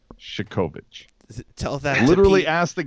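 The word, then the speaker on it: Chekhovich: Now, the other guy, it's Shikovich. It's not Chekovic. It's not that. It's not a ch. It's sh. It's Shikovich.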